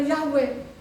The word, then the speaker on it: Yahweh: B Indonesia masih ada y wuhe ya karena ada tanda masoranya di situ bacanya yahwe Nah di sinilah kesalahannya